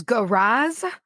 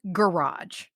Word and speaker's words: garage: Garage is garage, not garage.